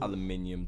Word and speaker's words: aluminium: aluminium. There is an I there, and And the thing is, they spell it differently as well.